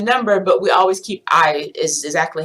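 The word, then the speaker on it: hay: but we always keep ey is exactly how it is remember that the H is silent so it looks like hey but it's pronounced I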